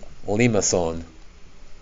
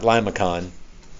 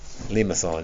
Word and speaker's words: limaçon: But today, some classic ones: circles, roses, cardioids, and the pronunciation for that is limaçon. Not limacon, limaçon. It's a French word.